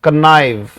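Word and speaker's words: connive: मैशिनेट, plot, intrigue, बड़ा प्यारा शब्द है, कन्नाइव, कन्नाइव पढ़ा जाएगा बेटा, ये उच्चारण है इसका, इसका भी मतलब होता है षड्यंत्र करना।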